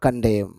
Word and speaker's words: condemn: the court will never condemn that the spectacles plainly wear made for the nose and the nose was as plainly intended for them here condem c-o-n-d-e-m-yen is silent so we say condem means express disapproval of